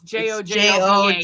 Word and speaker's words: jojoba: If you can't use coconut oil, another oil I like to use is jojoba, which is jojoba. It's Jojoba. Jojoba. It's pronounced jojoba.